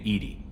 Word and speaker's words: EDI: airlock is a jar why are you named Edie Ed is the phonetic pronunciation of Eed I that is an acronym